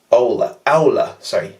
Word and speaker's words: Aula: A-U-L-A. Aula. It's pronounced Aula.